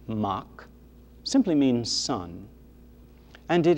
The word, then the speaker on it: Mac: from the truth because mac m a c pronounced in irish mach simply means sun and